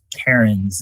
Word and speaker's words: Cairns: And pardon me, Christopher, I think I mispronounced your last name. Cairns is correct, right?